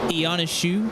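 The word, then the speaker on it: Ionescu: It's different it's Ioneshu. Ioneshu.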